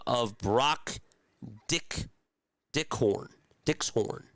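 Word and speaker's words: Dykxhoorn: Dickshorn. That's how you say it.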